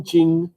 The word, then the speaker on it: Qing: And then Yuan, Ming, Qing, Republic.